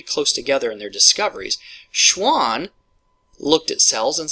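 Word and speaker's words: Schwann: And one way that I remember it to keep the guys separated, I think Schwan rhymes with swan and swan's an animal.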